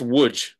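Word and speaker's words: Łódź: yeah yeah yeah yeah looks like loads which is also hilarious but it's pronounced wood and I would describe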